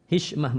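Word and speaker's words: حشمة: menimbang, punya rasa malu, hashma, rasa malu kepada suami, sehingga bisa mengata-ngatai suami sepuas hatinya. Hishmah, bacanya hishmah.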